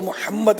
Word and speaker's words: محمد: اچھا، اب یہ لفظ کا ویسے عربی میں تلفظ تو محمد ہے، اور اس میں حمد